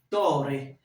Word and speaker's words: torre: Torre. Torre. C'est-à-dire, lorsqu'il y a une double consonne dans un mot, la prononciation est étirée. Lorsqu'il y a une seule consonne, la prononciation est brève.